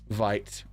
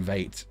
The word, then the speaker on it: Veight: is hard to read I had to look up the Japanese pronunciation of vite's name to make sure it was white rather than vate the himbros look hilarious